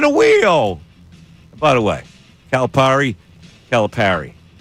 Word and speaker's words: Calipari: By the way, calipari calipari how you pronounce the word p a r par.